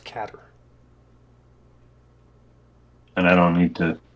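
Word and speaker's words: cadr: car of the cutter it's pronounced caterer and I don't need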